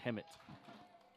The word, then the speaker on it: Hemet: or yes all right i didn't know if the l was silent so you know californians are cool let's do stuff like that and have a silent l maybe but no it is hammett okay yeah yeah it is hemit and he made a long